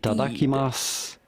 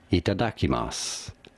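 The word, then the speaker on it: いただきます: Itadakimasu. The U at the end is silent, or you can consider it so. Itadakimasu.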